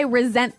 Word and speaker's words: resent: But you pronounce it like a Z.